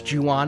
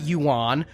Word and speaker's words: Ju-on: I learned a lot about The Grudge and The Curse and Ju-on and all of that, including how to pronounce Ju-on and not Yuan.